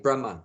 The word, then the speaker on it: Brahman: a m no sorry b r a h m a with a long a on the end Brahma Brahma whereas the soul is called Brahma short a Brahma same spelling but short a Brahman Brahma means the soul